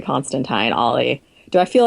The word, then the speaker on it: Constantine: with constant I know you're supposed to pronounce it Constantine like the time of a fork but you know what